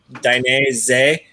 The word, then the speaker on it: Dainese: it down for is is dynasty so z-e-h at the end so dynasty z-e-h and yeah which has just been dropped on us yeah easiest way to pronounce it okay been around since